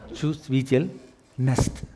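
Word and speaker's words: чувствительность: Chuvstvitel'nost.. Say it.. Chus Say it like how I said. Chuvstvitel'nost.. Chuvstvitel'nost It's not nest.. Nost.. Nost..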